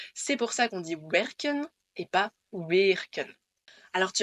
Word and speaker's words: werken: Werken. Wer est une syllabe fermée, comme on l'a dit, puisque ça termine par un R.